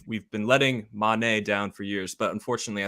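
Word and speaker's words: Mané: Did you know that, technically speaking, it's Mane and not Mane?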